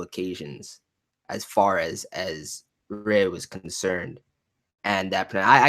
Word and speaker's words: Re: I know Luna had mentioned on multiple occasions as far as as Rey was concerned and that I I still will say Re but with that pronunciation um and Rey being